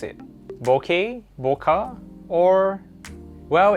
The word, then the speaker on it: bokeh: Bokeh, bokeh, or... Well, it actually came from a Japanese word known as bokeh. Bokeh, not boka or some other pronunciation.